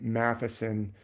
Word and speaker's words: Mathisen: It's the th letter, but actually in Norwegian or Scandinavian, they typically pronounce the th not like th as much as like t. Like my name Mathisen, which is Norwegian. If I meet someone from Norway, I say, hi, my name's Mathisen. They say, oh, Mathisen, you mean Mathisen. That's how we say your name, Mathisen.